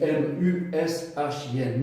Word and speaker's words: mushin: Pour des sports de combat, le mushin japonais, ça s'écrit M-U-S-H-I-N, mushin.